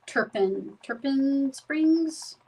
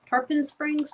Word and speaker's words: Tarpon Springs: He was born in Turpin Turpin Springs. Tarpon Springs. Turpin Springs.